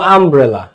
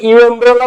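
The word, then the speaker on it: umbrella: অ্যান আমব্রেলা, তুমি বলো আমব্রেলা, তুমি এটার উচ্চারণ কি ইউ এমব্রেলা বলো? ইউ এমব্রেলা না, আমরা আমব্রেলা বলি।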